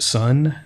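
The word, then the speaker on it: Sonne: Frederick Lao who plays uh Wikipedia said it's pronounced son s o n NE is his name um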